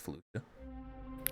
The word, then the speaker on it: Felucia: F UCI a fuia it's probably technically pronounced fuia but I've always heard pronounced FIA for an Nexus aour